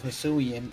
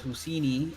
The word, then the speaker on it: Hisuian: Yeah, I'm still gone over your pronunciation of Hisuian as Husini.